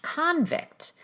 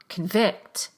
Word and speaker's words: convict: Look at the difference between the noun convict, where the prefix is stressed, convict, and the verb convict, where the prefix is not stressed, it's rushed, convict.